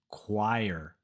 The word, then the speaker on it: choir: Our final word where the spelling makes no sense is this word, which for some reason is pronounced choir.